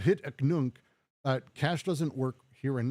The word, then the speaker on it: hic et nunc: held off, because money, hic ent nunc, as Arachne would say, which is just a terrible pronunciation, Arachne. But hic et nunc, cash doesn't work here